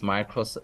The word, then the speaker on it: Micros: You've pronounced it correctly. It's Micros South Africa, a company owned by Adapt IT.